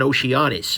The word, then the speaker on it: Oceanus: Next thing, what the heck is an Oceanus? And yes, that's spelled honest, not anus.